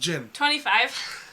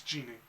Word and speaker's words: djinn: It's genie. It's not pronounced genie. It's pronounced Jinn. No, gin is the species, which is DJINN.